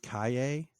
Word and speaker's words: Calle: Then Sasha, I've heard her now pronounced Kaye. I'm not really sure how you get that from Calle. It's the sound that the double L makes in like Spanish or other South American languages.